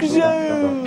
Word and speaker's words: zone: And just as we've seen before, an E is silent but strong. It makes the vowel sound long. Joke zone.